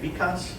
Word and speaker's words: Vikas: I go along, back up exactly, Mary, what Vikas, did I say it right? Vikas.